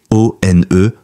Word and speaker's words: ONE: À Montréal, il fonde avec quelques amis un groupe de R&B, O-N-E, prononcé One.